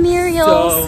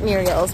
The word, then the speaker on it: murals: Super cute, awesome murals. So many murals. It's murals, not murials, right?